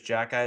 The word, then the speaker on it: Xhekaj: His last name is Jackeye. It's spelled Xhekaj.